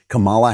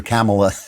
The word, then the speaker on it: Kamala: I always loved that, called her Kamala instead of Kamala.